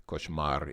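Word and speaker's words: кошмар: for me a nightmare the koshmar is Russian for a nightmare taken from the French word which is pronounced about the same nevere net at the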